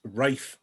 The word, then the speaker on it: Rafe: My name is Rafe. Rafe rhymes with safe, for those of you that don't know me.